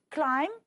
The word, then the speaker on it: climb: the one before last climb the B is silent and honest the H